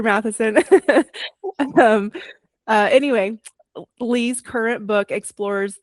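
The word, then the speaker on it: Matthiessen: A longtime student of, is it Peter Matheson, sorry. But Thank you. most people pronounce it the way you do if they've never heard it before. So no problem. Sorry, Peter Matheson.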